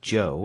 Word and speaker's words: Cho: Spell it Cho if you want to be exotic. It's still pronounced Joe, and that's his name.